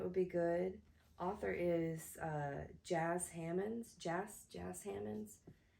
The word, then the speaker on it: Jas Hammonds: Author is Jas Hammonds. Jas Hammonds. It sounded like they said jazz when I watched an interview with her, but it's spelled Jas Hammonds.